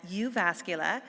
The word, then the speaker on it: Jyväskylä: prestigious postdoctoral Academy of Finland research fellowship at Jyväskylä. I learned how to pronounce that proper Finnish name.